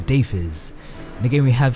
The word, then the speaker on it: Deiphiz: Greetings viewers, as you can see my name is in the intro and it is pronounced Deiphiz.